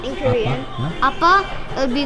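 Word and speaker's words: 아빠: How do you pronounce that in Korean? Appa.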